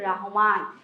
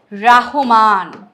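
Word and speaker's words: শামসুর রাহমান: হচ্ছে তার নামের বানানটা নাম হচ্ছে সুর রাহমান ঠিক আছে নট রহমান রহমান এটা কিন্তু হবে না এটা একটা ভুল আমরা নরমালি বানের ক্ষেত্রে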